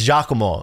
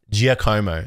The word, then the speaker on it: Giacomo: It's Giacomo. Please, nobody say Giacomo. That's not how you pronounce this guy's name.